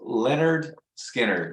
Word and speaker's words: Lynyrd Skynyrd: like you know how Lynyrd Skynyrd their record it was uh pronounced Leonard Skinner what parentheses yeah yeah